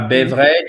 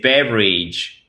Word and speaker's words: beverage: C'est pas beverage, c'est beverage. Beverage.